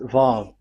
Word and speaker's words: Vav: So the word, the shape Vav is really pronounced V, like Vogue. That is it, pronunciation. So here in this side, it's pronunciation. This is pronunciation. So according to the old Hebrew word today, those who, the owner of the words, I mean, so it's a V. So don't change it into W.